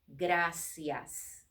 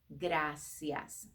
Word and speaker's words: gracias: in spanish we say gracias i know the r it's kind of a difficult thing to pronounce but gracias say it with me